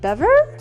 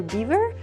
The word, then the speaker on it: Belvoir: heard it could be bever or beaver i pronounced it belvoir so i had french education in school so that's how i pronounce it it's a very good